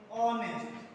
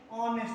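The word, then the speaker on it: honest: अगर हम ऑनेस्ट लिखना चाह रहे हैं, ऑनेस्ट लिखेंगे, वर्ड क्या लिखा हुआ है? ऑनेस्ट। स्टार्ट किससे है? कॉन्सोनेंट से, लेकिन इसका जो प्रोनाउंसिएशन है उसको हम लोग पढ़ते हैं ऑनेस्ट। क्या पढ़ते हैं? ऑनेस्ट पढ़ते हैं।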